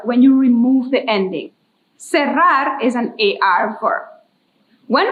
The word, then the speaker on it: cerrar: Repeat that, cerrar. I know it's a little difficult to pronounce the double R in Spanish, but I am trusting that you could do it.